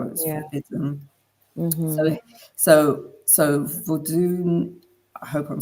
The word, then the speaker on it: Vodun: So that would be like Vodun in Haiti. It's not voodoo. That's incorrect.